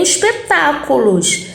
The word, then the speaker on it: espetáculo: paroxítona eu não tenho, eu tenho espetáculos, que é uma proparoxítona, espetáculo, lo a última, né? Cu, ficou horrível isso. É paroxítona, mas a sílaba tônica tá no tá, né? Antepenúltima, isso faz com que ela seja classificada como proparoxítona e todas são acentuadas, tá bom?